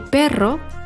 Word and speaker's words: perro: El perro corre con la zorra.